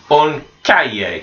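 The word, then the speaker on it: un cahier: we've got an exercise book and we will pronounce that on cat yay on Calle so it's that yet sound that H and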